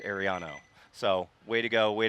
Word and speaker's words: Ariano: So, she wanted to make sure that we accentuated the O. It is not Ariana, it is Ariano.